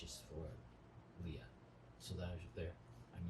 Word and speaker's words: Liah: So Leah is spelled Liah.